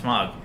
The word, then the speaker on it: Smaug: Their exchange in this, I imagine, with Smaug, that's going to be just as good. It's going to be worth the 2 hours to get to that scene. Yeah, absolutely. And it's pronounced Smaug.